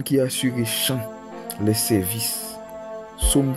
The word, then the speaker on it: psaume: assuré chant les services pume prononcé avec endez P dans pume il pas prononcé P à mieux ven mot